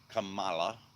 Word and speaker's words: Kamala: Let me not pronounce that camel toe's name wrong. I'll get in trouble. Kamala.